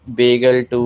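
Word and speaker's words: BglII: बैम H1 बोला जाता है, ये BGL को बेगल 2 बोला जाता है, इको R1 को इको R1 बोला जाता है, इको R1, ठीक है।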